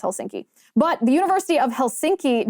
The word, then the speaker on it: Helsinki: that one for me I always want to say hilinski even though it's Helsinki but the University of